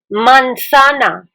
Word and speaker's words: manzana: stay tuned and let's see how do we pronounce our fruits Apple mansana m a n z a n a banana